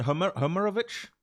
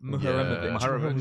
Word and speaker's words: Muharemovic: And Homerovic, We need to learn his name. Muharemovic.